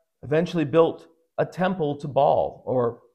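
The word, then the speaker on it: Baal: built a temple to ball or sometimes he's called bale probably the correct way to pronounce it as ball I will pronounce it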